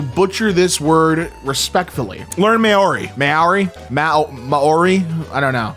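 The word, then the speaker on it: Māori: It's pronounced Maori.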